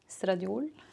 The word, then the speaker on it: estradiol: Estradiol. I don't know how to pronounce it in English, but it is estradiol in Norwegian.